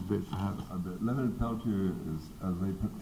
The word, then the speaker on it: Peltier: Yeah, well, it should be Peltier. Ah. There are lots of American Indians out in that part of the north, central, west, who have whose names come down from French Canadian trappers and people who were